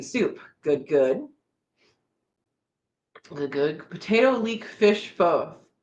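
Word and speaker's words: phở: It's spelled PHO, but I believe, someone correct me if they absolutely know what we're talking about, but I believe it's pronounced pho.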